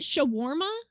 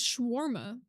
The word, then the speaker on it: shawarma: Is that how you pronounce it? Shawarma. I thought it was schwarma.